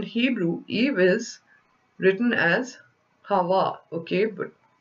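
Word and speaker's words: חַוָּה: Eve or in Hebrew eeve is written as Hawa okay but like c-h-a-v-b-a-h but pronounced as Hawa which means life and is a derivative from Life Giver so Hava or Eve is was named as such for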